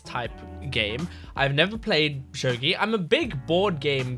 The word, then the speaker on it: shogi: It's not Shogi, it's Shogi. It's about Shogi, which is a board game type thing, as far as I know, like a chess type game. I've never played Shogi.